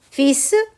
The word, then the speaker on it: fils: Fils, fils, ça s'écrit, il y a un L qui est au milieu, on ne le prononce pas.